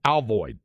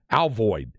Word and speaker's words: Alvord: town is spelled a-l-v-o-r-d a-l-v-o-r-d how would you pronounce that a-l-v-o-r-d Alfred right right Albert or Alvord right Old-Timers in the community say pronounced like the r is an i alvoid alvoid and now I couldn't